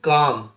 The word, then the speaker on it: calm: Okay, L silent, WALK walk, walk मैंने टहलना, CALM काम, एल नहीं पढ़ेंगे, काम पढ़ेंगे, काम माने शांत, इसको भी वॉलक नहीं पढ़ेंगे, वॉल्क नहीं पढ़ेंगे, पढ़ेंगे वॉक।